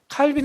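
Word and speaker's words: Calvin: 칼빈 같은 사람은 원래 프랑스 사람인데, 칼뱅이라고도 하죠. 프랑스식 발음으로 칼뱅. 영어식은 이제 칼빈이라고 그러고.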